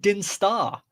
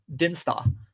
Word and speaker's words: Dinstar: No, I said Dinstar. You're hearing a silent T somewhere, Andy. It's not. It's Dinstar. Could be worse.